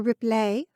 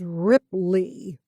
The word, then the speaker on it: Ripley: stammered we yes monsieur ripley i said with something along the lines of a french accent i intentionally made the end of his last name rhyme with hay instead of tea the small creases of